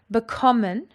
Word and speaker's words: bekommen: Bekommen has got its emphasis on the second syllable.